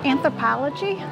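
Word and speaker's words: Anthropologie: all right this store I believe it's pronounced anthropology um another clothing store and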